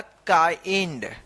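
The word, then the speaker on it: kind: तो इसको किंड नहीं पढ़ा जाएगा। इसको पढ़ा जाएगा काइंड।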